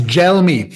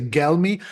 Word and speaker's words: Gelmi: name properly uh it's gel me it's it's written with a G so you might be tempted to say geli but it's Italian so you pronounce it like gelato excellent okay thank you